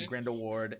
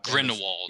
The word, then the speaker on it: Grindelwald: fantastic beasts dell says i like crimes or grindelward and then uh grindelwald yeah grand old see i'm not even an